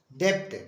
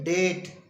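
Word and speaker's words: debt: तरह से डीई बीटी वैसे तो कुछ लोग पढ़ते हैं लेकिन गलत है डेप्ट डेप्ट नहीं है इसको बोलेंगे डेट डेट मींस कर्ज इसी तरह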